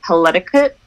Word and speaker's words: Paletiquette: As of now, it's called Paletiquette, so it's like palette etiquette.